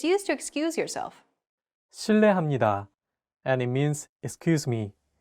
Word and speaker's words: 실례합니다: 르, It sounds like a mixture between an R and an L sound. 르. 르. Altogether, it's 실례합니다.